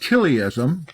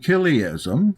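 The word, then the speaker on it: chiliasm: Lambda uh come up to 1000 we can pronounce that KIA so when we talk about kism c h i l i i SM kism we're talking about somebody that's Millennial and believes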